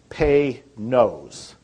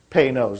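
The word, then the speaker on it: Panoz: to pronounce it right it's pay nose pay knows like p-a-y and then n-o-s-e knows is how you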